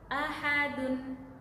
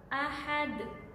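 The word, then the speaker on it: أحد: Jadi cara membacanya yaitu ahad, ahad, ahad. Bacaan yang salah misal ahad, ahad, tidak dipantulkan ya.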